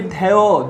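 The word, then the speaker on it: ধ্যেয়: দেখে বলেছি জফলার কোনো উচ্চারণ থাকবে না। কি উচ্চারণ হচ্ছে? একার, ধেয়, একারের মতোই উচ্চারণ হচ্ছে, অর্থাৎ এখানে যদি জফলা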